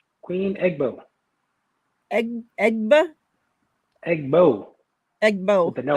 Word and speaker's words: Egbo: How do you pronounce her last name? Queen EGBO. EGBO?